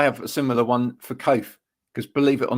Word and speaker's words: Coath: a similar one for code because believe it or not people can't pronounce my surname right even though it's just coats with an h on the end right and believe it